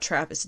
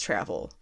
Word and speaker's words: Travel: art by travel foreman i didn't mispronounce that it's not travis it's travel although i do mispronounce names